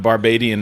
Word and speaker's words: Barbadian: i've never seen it i've never seen it said barbadian that's like barbarian it's like australian it's like australian right yeah it's funny bobby actually looked it up and barbadian is the textbook correct